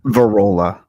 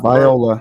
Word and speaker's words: Varola: your last name again varola it's not Viola it's not Viola no